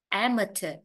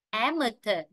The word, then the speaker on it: amateur: À, cái từ số 35 ấm cuối cùng có hai cách phát âm. Ở đây có thể phát âm t hoặc phát âm ch. Amateur, amateur. Hoặc tiếng Anh Mỹ sẽ là amateur, amateur.